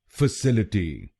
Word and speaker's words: facility: और ये ध्यान रखिए कि हमको दूसरे शब्दांश पर यानी SIL पर जोर डालना है। फैसिलिटी।